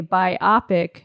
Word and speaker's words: biopic: pronounced like autobiography, aka biopic, not biopic. And when you guys said it, that was my 6th time hearing it said since I learned the proper way to say it a mere week and a half ago. Wow. How do you say it? I read it as biopic, Biopic. but it's biopic. Biopic. Like a bio picture.